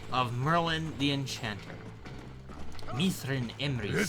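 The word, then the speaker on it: Myrddin Emrys: So the DD is pronounced as a TH. Now, did the sheep take your maiden name, or? So Mithrin Emrys. Mithrin Emrys.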